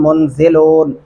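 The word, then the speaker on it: المنزلون: यहाँ पे एक और गलती क्या की जा रही होती है, अम नहनुल मुंज़िलून।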